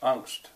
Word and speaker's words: Angst: would say in English angst has become an English word actually pronounced angst um fear dread because